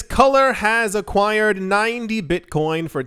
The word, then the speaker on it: Kulr: It's not how you spell it, but it's Kulr.